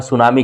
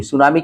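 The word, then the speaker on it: tsunami: सुनामी एक जापानी शब्द है, इसकी स्पेलिंग टी से स्टार्ट होती है।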